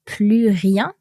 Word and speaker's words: plus rien: And so in our sentence, we saw that plus rien, and our S in the plus is silent here because of no more.